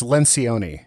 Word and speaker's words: Lencioni: I believe it's Lencioni.